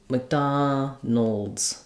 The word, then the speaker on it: McDonald's: So, that would sound kind of like Mc. So, if there's any vowel there, it's a little i sound.